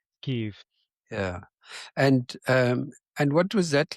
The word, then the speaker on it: Kyiv: Kiev, I believe, is how you pronounce it. It's not Kiev, it's Yeah, Kiev. yeah, Kyiv.